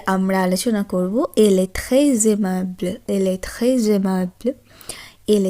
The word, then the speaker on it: très aimable: যখন আমরা এস এর পর পরবর্তী কোনো ভয়েল বা ইংরেজিতে যেটি আমরা ভাওয়েল বলি তার উচ্চারণ করব, তখন ফরাসি ভাষার ক্ষেত্রে সেটি জেডের ন্যায় উচ্চারণ হয়।